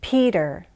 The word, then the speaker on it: Peter: Remember to make it sound like a D. Peter, Carter, Adakus, Natalie, Felicity, Catalina.